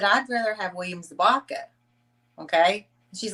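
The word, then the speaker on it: Zabka: How you pronounce his last name again? William what? Zabaka.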